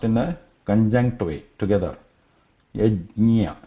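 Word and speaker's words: यज्ञ: Yajnya, it's not, should not be pronounced as yad also. Okay? This is not yajnya, or this is not yagya. Okay? This is not yagya. This is yaj. Say ja and then immediately add nya to it.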